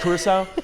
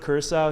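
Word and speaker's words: Curaçao: He mispronounced like 6 different. He said North Macedonia. Hey, he said Curacao instead of Curacao.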